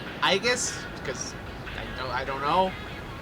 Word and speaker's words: Aegis: Anyway, we are finally back with some 13 Sentinels Aegis Rim. I've been told that I've been pronouncing it wrong the entire time. I kept saying Aegis because I don't know.